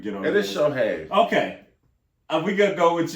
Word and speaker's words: Shohei: It is Shohei. Okay. We gonna go with you. Shohei. Because I always just call him Otani. That's all I go by. I never. That first name is Fierce, darling. Shohei.